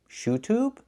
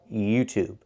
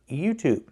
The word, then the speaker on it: YouTube: ShoTube. ShoTube. It's not pronounced. It's pronounced YouTube. Make the E sound like in yes in yesterday. You YouTube.